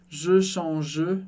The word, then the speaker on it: change: E no final da palavra a gente não pronuncia e S no final das palavras a gente também não pronuncia. Então, por isso, eu não posso falar, tá super errado, dizer je change ou je change, que poderia confundir com outra coisa.